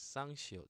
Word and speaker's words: 쌍시옷: Now it's 쌍시옷, double consonant, so adding a little more stress is S, S. Okay, double S. So sounds like sign, sign, or sun, sun.